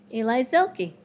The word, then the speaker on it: Eli Zilke: How do you say your name? Eli Zilke. Yes.